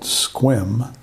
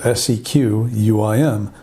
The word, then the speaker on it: Sequim: east of the park called squim it's spelled s-e-q-u-i-m don't say Sequim you'll get weird looks unfortunately the park service